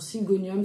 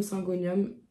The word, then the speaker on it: Syngonium: veux rempoter c'est un syingonium alors syingonium singonium chacun le prononce à sa façon qu'on m'a offert il y